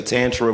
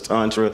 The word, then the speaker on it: Tantra: I hear some people say Tantra versus Tantra, like tomato, tomato. Is it both?